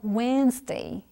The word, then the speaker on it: Wednesday: E agora, a palavra grande, a gente fala Wednesday. Então, você elimina o D mesmo na hora de falar. Então, é igual when's your birthday, por exemplo.